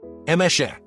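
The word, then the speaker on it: Emese: For context, It's pronounced as. All the E is like the E in bet, and the S is SH like in shoe. Emeshe.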